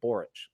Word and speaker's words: Borics: Pronounced Borics.